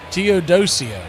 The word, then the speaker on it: Teodosio: I was thinking that TEO, some kind of Teo something. No, it's Teo- Teodosio.